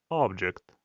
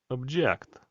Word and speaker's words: object: Подивіться, коли в нас наголос стоїть на першому складі, object, це слово є іменником, предмет або об'єкт. І якщо ж ми змінюємо наголос на другий склад object, то це слово стає дієсловом. Заперечувати.